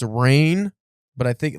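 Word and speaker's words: Rahne: uh what was her I'm pretty sure it's pronounced rain yeah but it can also be pronounced Ronnie yeah the spelling of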